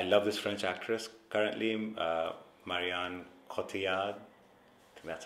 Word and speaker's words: Marion Cotillard: to watch I love this French actress currently marion cotillard that's how you say it she's just amazing